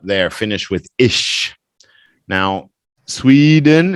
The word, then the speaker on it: Sweden: Now, Sweden, it's not sway, it's swe. Sweden, Swedish.